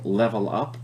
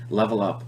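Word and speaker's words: LVL UP: It's a band called, I'm assuming, LevelUp, even though they spell their name kind of funny with an LVL. Pretty sure it's pronounced Level Up, and they had the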